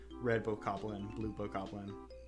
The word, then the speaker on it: Bokoblin: I think Bokoblin's the right way to say that, because it's not Bokoblin. I think I have a bad habit of saying Bokoblin, but I think it's Bokoblin. That sounds like Goblin. That sounds like the correct way to say it.